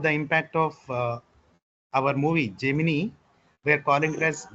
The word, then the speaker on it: Gemini: In India, especially in South India, we call it as Gemini because of that movie.